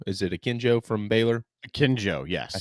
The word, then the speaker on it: Akinjo: And the third team selected by the AP is JD Note from Arkansas, James, I can never pronounce his last name either. Akinjo, is it Akinjo from Baylor?